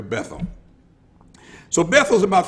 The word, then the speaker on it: Bethel: Now, and some have pronounced it Bethel, but I don't want to be fancy like that. I'm just going to call it like we call it in America, Bethel.